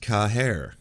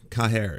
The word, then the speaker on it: Caher: My name is pronounced Caher. Caher. It's Irish.